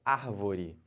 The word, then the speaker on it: árvore: Olha o exemplo. Árvore. Então, você conta aqui, ó. Última, penúltima, antepenúltima. A antepenúltima sílaba é a mais forte, então essa palavra é chamada de palavra proparoxítona.